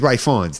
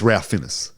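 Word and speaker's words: Ralph Fiennes: oh rafinis yeah yeah he's Ray fines though that's how he says his name I'm Ray fonts but it's Ralph finish like you know you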